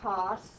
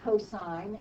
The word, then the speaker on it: cosine: first three letters but it is not ever sin or cos it is always pronounced sine and cosine even when we just